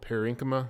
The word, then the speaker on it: parenchyma: Mainly consists of a cell called parenchyma. That's how you pronounce that.